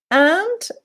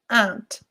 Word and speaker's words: aunt: Where do I put aunt? Be careful with pronunciation. Aunt. The U is not, is silent. It's not aunt. Aunt.